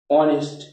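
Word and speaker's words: honest: না, কি বলি আমরা, অনেস্ট। তাহলে এইচ উজ্জ্ব হয়ে যখন যায় তখন তার উচ্চারণ অ হয়ে যায়, that means vowel sound, isn't it?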